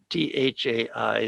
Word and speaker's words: Thai: in thailand you have t-h-a-i the h is an aspirated t so it's it's the same thing thai but it's spelled differently and so we came